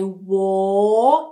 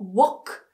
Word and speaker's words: walk: They walk, nice and round, not walk. Walk, make it longer.